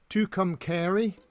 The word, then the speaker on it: Tucumcari: I've been asked to explain the word or to pronounce the words. It's Tucson, obviously, Tucumcari, Techepi, and Tonopah.